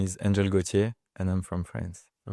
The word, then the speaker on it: Gautier: So, my name is Angel Goier and I'm from France.